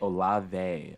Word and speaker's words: Olave: I feel like I never say Olave? it correctly. Say it again. Chris Olave? Olave. Okay. Mm-hmm. So it's like that one soap brand, you know? A little bit. Yeah. Olave.